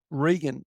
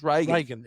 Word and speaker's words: Regan: noticed morgs did it rean and some people pronounced it she was Reagan the but your mate Brad or whatever the murderer yep he was calling her rean but she was Reagan the whole time but in that